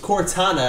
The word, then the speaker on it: Cortana: up anyway that was Cortana I realized I pronounced it wrong at the start of the video Cortana um if you want